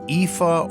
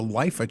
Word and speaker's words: Iifa: back in the day, actually thought it started with an L and was called the Lifa Tree, but it is actually called the Iifa Tree. That's my pronunciation anyway, so that's what I'm going with.